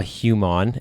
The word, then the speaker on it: HUMON: It's a lot of people say human, and I always try to correct them that it's HUMON.